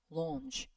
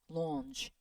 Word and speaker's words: launch: 얘는 약간 O 사운드에 가까운데 턱이 밑으로 내려갔다 이렇게 올라오면서 나는 되게 긴 사운드예요. 얘기죠. 그러니까 약간 어에 좀 어중간한 그 사이에. 그래서 턱을 밑으로 쫙 내려주면서 launch, launch.